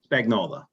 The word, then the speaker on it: Spagnola: Okay, so we have as your name is pronounced Spagnola? Spagnola.